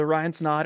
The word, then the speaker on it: Snaadt: So Ryan Snaadt, it rhymes with odd.